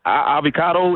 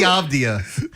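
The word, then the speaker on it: Avdija: So Denny Avdia. That's his name.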